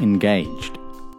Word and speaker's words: engaged: their relationship status engaged the stress is on the a engaged we usually use the verb yet with engaged for example miss Johnson and mr.